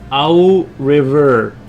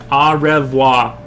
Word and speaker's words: au revoir: Owl River. Now is owl pronounced like owl or au?